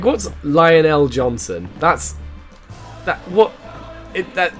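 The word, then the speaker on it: Jonson: wow that's really bad johnson john's oh it's john stun sorry i didn't realize that was um saying the primark's name wrong uh lionel johnston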